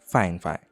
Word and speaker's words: Fifine: Though it spells Fifine, based from what I researched, the correct pronunciation is Fifine.